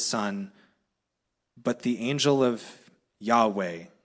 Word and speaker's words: Yahweh: that God and Scholars are pretty certain it's pronounced Yahweh but in many Traditions it's considered too holy